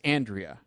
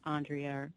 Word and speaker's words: Andrya: and also just for clarification, it's Andrya. It is, yeah, Andrya. Okay. Not Andrea or Andrea, but I'll respond right.